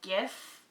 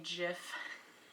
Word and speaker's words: GIF: I say I know it's supposed to be gif like gift without the tea but I just say jiff my name's juice alright